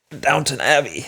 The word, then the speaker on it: Downton Abbey: There's no W. There's no downtown? That's not how it is? No, it's Downton. That's how I spell it.